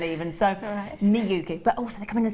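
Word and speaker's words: Miyuki: um so those are your miuki get it pronounced right now miuki lovely name as well miuki sounds awful so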